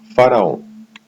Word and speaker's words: Faraó: Faraó se constitui num poderoso mantra que se pronuncia em duas partes.